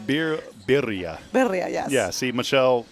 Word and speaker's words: birria: And how do you say it's birria? Birria. Birria. Yes. Did I get that right? Birria. Birria, yes. Birria.